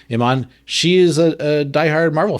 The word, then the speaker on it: Iman: I highly recommend look up interviews with it's Iman, right? That's how you say her name, Iman.